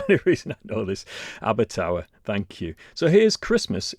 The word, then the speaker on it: Abertawe: I think it's pronounced Abertawe. Oh, right, well, there you go. My son was at Swansea University for 4 years, so that's the only reason I know this. Abertawe, thank you.